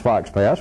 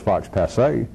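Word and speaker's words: faux pas: They took the way that I mispronounced Fox Pass when I know damn well it's Fox Passe.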